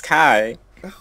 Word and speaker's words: Kaio: It makes Kai. Oh, like I. Because I is spelled A-Y-E. Alright? Hmm. Depending on where you're from. Alright? Mm-hmm. So that could be Kai or K. However, this... it's Kaio.